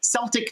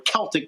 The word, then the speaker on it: Celtic: This was after the Lord of the Dance, but it's called Celtic Tiger or Celtic Tiger, depending on which way you want to pronounce it, but Michael Flatley at his best.